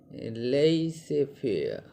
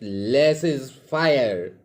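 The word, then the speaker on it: laissez-faire: is less is fair some pronounce it as lazy fear but it's better to call it less is fire so what is the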